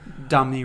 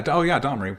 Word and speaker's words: Domri: Domni Raid would be proud. Yeah, I probably butchered the pronunciation, but you understand. Yeah. Domri. Okay. Domri.